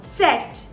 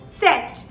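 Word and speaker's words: Zett: you pronounce the z it's very essential that you not miss the t here as well so while you pronounce the z you pronounce it as set set okay and the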